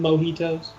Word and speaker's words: mojito: You sure you didn't have about 27 mojitos? It's pronounced Mojito.